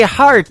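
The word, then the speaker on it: Harte: That is the latest single from my good friend Robbie Hart. It is H-A-R-T-E on her last name, and that is called Heart in Two Places. Yeah, just like your heart.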